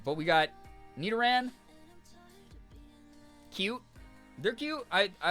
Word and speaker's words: Nidoran: Nid rhyming with kid. Oh, like Nidoran.